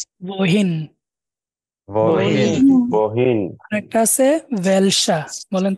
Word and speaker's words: welcher: wohin, wohin, আরেকটা আছে ভেলসা, বলেন তো ভেলসা। welcher, ভেলসা এটা হচ্ছে কোনটা বা কোনটি, ঠিক আছে, ভেলসা।